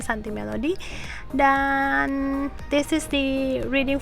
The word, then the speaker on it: Suntea Melody: Instagram saya Santi Melody, tulisannya SUNTEA Melody ya, bacanya Santi Melody.